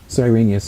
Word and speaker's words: Cyrenius: Quirinius or Cyrenius would say that name Cyrenius is fine Cyrenius that's what the King James Version says yeah cuz I think some other scholars refer to Meninas that would be the more accurate pronunciation of his Latin name okay but Cyrenius is